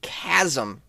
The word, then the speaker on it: chasm: And you get people doing this because you have such a vast gap, a chasm, if I may. Chasm spelled with a ch. Oh yeah, sometimes a ch sounds like a K.